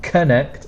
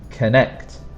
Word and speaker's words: connect: And when you're pronouncing it, try to make the second sound stronger. It's not connect, it's connect, connect. The second sound is a bit stronger.